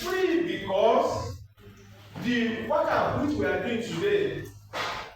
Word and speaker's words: waqf: Uh some people they call it waqf. Uh I don't want to say they are wrong, but that's the way they like to waqf. Uh But the correct pronunciation is waqf. But the Yorubas say they are waqfu.